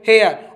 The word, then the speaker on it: hair: लिए ये हो गया हेयर, और आर इसमें साइलेंट होगा तो आर का कुछ लगाओ मत, सही है ना।